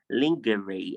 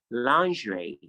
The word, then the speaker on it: lingerie: It is not lingerie. I don't know how you pronounce that, but it's pronounced lingerie.